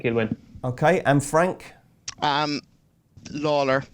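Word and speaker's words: Lalor: Lawler, or Layler, I think is the way to pronounce it, Layler in the Arkle.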